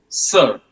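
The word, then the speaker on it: sœur: It's very it's pronounced pretty much like the English word sir. sir and the word means sister.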